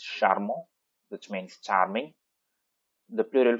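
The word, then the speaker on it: charmant: masked line form it's sharmo which means charming the plural form it's sharmo right so the pronunciation will be the same sharmo right so the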